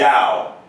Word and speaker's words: Tao: quiz what is the dow i might so don't google it but think about it the dao it's a chinese word in japanese it's go